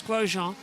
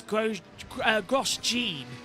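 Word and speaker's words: Grosjean: And I am saying it correctly. It's Grojan. I literally saw an American pronounce it as Gro Gene the other day.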